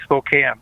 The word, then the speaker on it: Spokane: It's actually Spokane. I know everybody pronounces that with a long A.